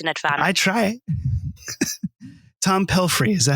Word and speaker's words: Pelphrey: say please apologize in advant I try Tom Pelfrey is that how you pronounce it that's right oh great hey see